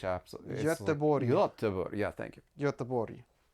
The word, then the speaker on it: Göteborg: We went to Gothenburg, and I know I mispronounce it, but that you pronounce it differently in Swedish. Göteborg.